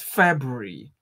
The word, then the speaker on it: February: well there yeah it's february february some people say february no it's not february yeah february february yeah